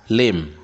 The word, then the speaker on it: limb: yeah that not that yeah that limb yeah very good not limp here thumb not thump yeah